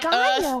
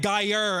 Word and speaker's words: Gaia Online: How do you even spell that shit? Gaia, It's like Gaia. Earth. You know, Gaia, that Gaia. Earth, Oh. Online. bro. Look, I'm gonna be real. Your accent was like Gayer.